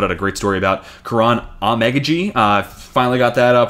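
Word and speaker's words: Kiran Amegadjie: Actually, The Athletic and Dane Brugler just put out a great story about Karan Amegaji. Finally got that pronunciation finalized.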